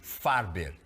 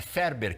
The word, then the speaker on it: Farber: de psicóloga under farber é Ferber que se pronuncia mas é se escreve farber né isso olha